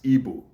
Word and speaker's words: Igbo: Those of you that usually pronounce Igbo as Igbo, that is E-B-O or I-B-O, that is not the right form of pronouncing the Igbo. Our language, or the Igbo language, is called Igbo. I-G, E-B-O, E-B-O, or I-G-B-O.